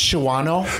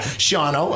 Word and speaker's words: Shawano: up every year inside isn't it pronounced Shawano by some locals when I said that yeah sean-o okay continue where were nee